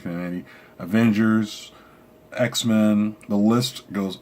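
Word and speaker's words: Kamandi: He's done New Gods, he's done Demon, he's done OMAC, Command, I think it's Commandy, I think it's pronounced Commandy, Avengers, X-Men, the list goes on and fucking on.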